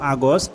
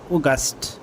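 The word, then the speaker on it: August: ঠিক আছে দুইটা তারপর আমরা শিখেছিলাম আগস্ট এটা আসলে আগস্ট হবে না এটা হবে অগাস্ট অগাস্ট তারপর আমরা শিখেছিলাম সেপ্টেম্বর কিন্তু এটা এটা প্রকৃতপক্ষে হবে সেপ্টেম্বর।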